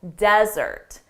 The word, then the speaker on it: desert: But for the noun, the syllable stress is on the first syllable, desert. Don't desert us in the desert.